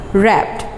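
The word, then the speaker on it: wrapped: Silent है, रैप्ड।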